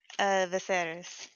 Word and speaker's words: Viserys: If it's Can you by say the his library, name one more time, the way that you'd pronounce it? Viserys.